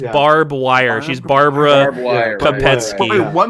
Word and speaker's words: Barb Wire: No, that's a different character. It's just Barb Wire.